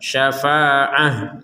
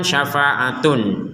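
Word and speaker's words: شفاعة: Tapi karena kita berhenti, maka huruf ta yang bulat ini kita baca sebagai huruf ha, syafa'ah seperti itu. Kalau digabungkan kepada kata berikutnya, barulah huruf ta ini kembali kepada huruf ta aslinya, sehingga terbacanya nanti dilihat harokatnya. Harokatnya adalah tanwin, huruf setelahnya adalah waw, sehingga tanwin dimasukkan ke huruf waw. Syafa'atu walahum. Nah, seperti itu. Jadi tanwinnya dimasukkan ke huruf waw. Taknya kembali seperti menjadi tak sebagaimana awalnya.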